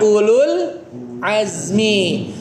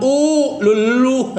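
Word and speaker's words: أولو العزم: Jadi bukan ulul enggak gitu, tapi ulul azmi. Ulul azmi bukan u lulu. Susah ya. Ulul azmi gitu ya. Un-nya satu harakat, lulnya langsung ke lamnya ya.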